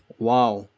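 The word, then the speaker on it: و: Wow, like the word wow in English, W-O-W, wow.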